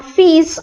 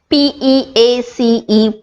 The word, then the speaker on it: peace: Upon further probing, I understood that he was actually meaning peace, P-E-A-C-E, peace, and not F-E-E-S, fees.